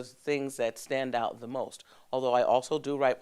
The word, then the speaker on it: Meaux: out of 60 plus plays and nine categories won best singer has a new director